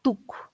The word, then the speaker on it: took: Cuando ustedes vean doble O, se lee como U. Cuando vean doble O, se lee como U. Entonces ahí se leería took.